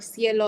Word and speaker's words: cielo: more like a K, but then if there's an I or an E, it'll sound more like an S. So cinco or cielo, it has more of that S sound at the beginning.